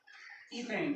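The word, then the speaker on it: ethane: इसका नाम है आपका ईथेन। क्या नाम है? ईथेन है। इसे हिंदी में भी प्रोनाउंस क्या करते हैं? एथेन करते हैं।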